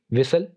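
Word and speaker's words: whistle: एच के बारे में रूल्स ये हैं कि एच इज not pronounced when it comes after W, यानी जब भी एच लेटर डब्ल्यू के बाद आएगा तो इसको प्रोनाउंस नहीं किया जाएगा। मिसाल के तौर पर what, van, वाइट, विसल and wait. तो यहां पर चूंकि जो लेटर एच है वो डब्ल्यू के बाद आ रहा है इसलिए हम एच को साइलेंट रखेंगे, एच को प्रोनाउंस नहीं करेंगे, बस डब्ल्यू को प्रोनाउंस करेंगे।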